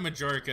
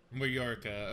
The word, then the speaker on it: Mallorca: Like Moroka? It depends on, or is it Majorca? It's probably not Majorca, because if we're talking like foreign, probably like European beers, I assume that's not spelled like a proper, or not pronounced like a proper J.